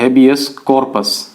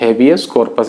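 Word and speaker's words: habeas corpus: तो इसको बोलते हैं हेबियस कॉर्पस। क्या बोलते हैं? हेबियस कॉर्पस।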